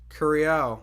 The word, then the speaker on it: Curiel: I definitely butchered that. Oh, shit. Raul is starting to fight Rodriguez, man. Curiel, that's how you say it.